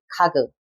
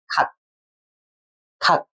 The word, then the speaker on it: 각: We don't say 가그. We say 각, 각.